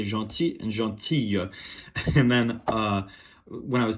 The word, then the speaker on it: gentille: Gentil, Notice the feminine form is I-L-L-E. Just like famille, there's a little bit of a Y sound at the end. So, il est gentil, elle est gentille.